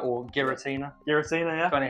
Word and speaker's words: Giratina: chase cards in this set we've got the gyratina or Giratina Giratina yeah funny how you say it got